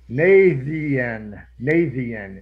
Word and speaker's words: Naitiath: You guys have landed in, I even got it here, Naitiath is how I'm pronouncing it.